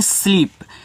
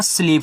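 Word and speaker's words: sleep: स्लीप तो एस के बाद एल है। देखो जब सटे हुए होते हैं बीच में कोई और नहीं होता ना। तो आपको क्या कहना है यहां पे? आधा सा। एल से ला भैया डबल ई है तो हमको बड़ी ई की मात्रा लगानी है और पी से यहां पे पा कहना है तो ये देखो आपका स्लीप हो जाएगा।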